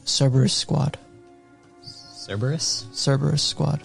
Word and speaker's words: Cerberus: They're called Cerberus Squad. Cerberus squad. Like, how do you spell? CERBERUS. Like the multi-headed dog. CERBERUS.